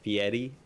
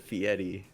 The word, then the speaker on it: Fieri: You gotta roll the R. What R? There is no R. There is an R. Oh, I'm looking at the pronunciation. Mm-hmm. Cobb got it. Fieri.